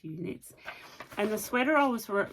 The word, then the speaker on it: EweKnit: It's EWEKNIT, so I think it's pronounced Uknits.